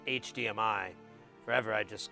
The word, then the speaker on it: HDMI: bitty as semi Bida Simi that's how I pronounce it and hadimai wasn't until about six weeks ago I found out it was pronounced HDMI forever I just called it hidemi yes well the Rampage is very similar to